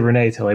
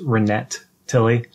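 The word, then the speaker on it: Renet Tilly: I came almost a Renee tell a Bible that's pronounced renette Tilly it's a new character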